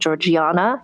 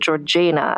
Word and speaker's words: Georgiana: And so, I will also mention, so Georgina is how we're going to pronounce her name because friends, that is how she chose to pronounce her own name. Um, you might, some people when you read it, you might think Georgiana. You might think Georgina, but she pronounced it Georgina.